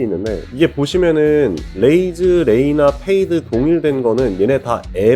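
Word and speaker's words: Fade: F 발음을 넣는 거예요 페이드부터 볼게요 웨이드라고 한번 보세요 웨이드 웨이드에다 F 발음만 넣는 거예요 웨이드 페이드 웨이드 페이드 웰 발음을 넣어서 부르시는게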